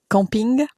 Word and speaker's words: camping: Okay, actually camping, which correctly pronounced in French is camping. Yes. So you'll see there's a slight pronunciation difference.